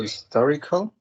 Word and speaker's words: historical: So historical. Mhm. Historical, I think that has 4 syllables, and the stress is in the second one.